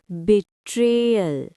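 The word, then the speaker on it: betrayal: Pronunciation ध्यान से सुनिए। बिट ट्रेल। बिट्रेयल stress ट्रे पर है।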